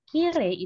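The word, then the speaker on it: きれい: masuk ke kata sifatnya karena pelafalan atau pronounceation dari Kirei itu dia tidak Kirei i nya itu tidak bulat seperti kosakata yang belakangnya huruf i lain seperti omoshiroli dia kan i-nya kebaca banget tapi kalau kiri dia huruf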